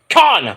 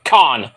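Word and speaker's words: Kaun: It's Bishop Khan, but it's spelled differently. K-A-U-N, but it's pronounced Khan, like Tony Khan, man.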